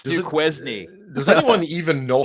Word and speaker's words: Duquesne: It's Duquesne. It's Duquesne. Does anyone even know how to spell Duquesne there? Duquesne. That's the way you spell it. It's not the way it's pronounced.